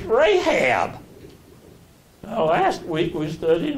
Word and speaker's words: Rahab: It's Rahab. Now, last week we studied Rahab, and we studied the Joshua fighting the battle of Jericho and the harlot Rahab being okay.